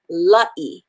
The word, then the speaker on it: La'ieikawai: the a and the i so it becomes la e l a i a is pronounced ah i is pronounced e so i